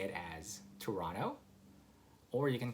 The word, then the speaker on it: Toronto: So again, the first one is Toronto. You don't really pronounce the T there, right?